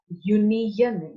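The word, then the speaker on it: union: अगर हम एन यहाँ पे यूज करते तो हम यू, ये क्यों नहीं यूज करेंगे, तो इसको प्रोनाउंस करिए, क्या हो जाएगा, यूनियन। य वाली साउंड मिल रही है हमें, यूनियन, य, तो या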